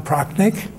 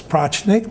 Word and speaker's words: Prochnik: Mr Liam Prock so my name is pnik usually mispronounce as pnik but that's okay uh